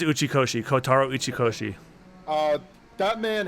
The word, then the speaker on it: Uchikoshi: you said it right you said it right it is uchikoshi kotaro uchikoshi uh that